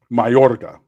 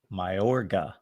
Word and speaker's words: Mayorga: pronounce it? Mayorga. Mayorga.